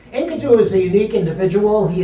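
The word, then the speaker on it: Enkidu: is spelled e n k i du is pronounced enidu but it's not it's inadu which is more the pronunciation of Jimmy duranti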